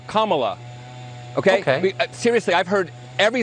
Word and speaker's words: Kamala: Her name is pronounced comma, like the punctuation mark la, Kamala.